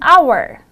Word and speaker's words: hour: starts from vowel sound as in the example an hour the letter h is voiceless in other words we do not pronounce it however if a noun